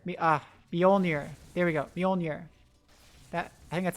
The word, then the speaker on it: Mjolnir: bjorner bjorn bjorner ah bjolnir there we go mjolnir that i think that's how you say it